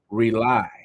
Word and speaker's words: R.A.U.L.I: It's pronounced rely.